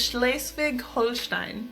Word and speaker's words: Schleswig-Holstein: Number 15 is Schleswig-Holstein.